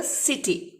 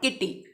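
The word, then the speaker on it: city: सी आई आया है तो this is pronounce as अ सिटी, ठीक है, नॉट किटी।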